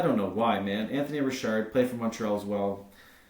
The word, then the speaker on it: Richard: show but I realized that I said his name wrong like five or six times and I don't know why so Anthony Rashard I called him Anthony Richard even after I corrected myself I then proceeded